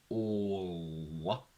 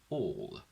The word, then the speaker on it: all: And when you have the combination all at the end of a word, I really want you to push the curl, and also I want you to remember to bring the tongue back into neutral position. Otherwise, we will not hear that sound, and it's very easy in this combination to miss it physically. So I really want you to go all, that's exaggerated, and then you get all, all, all.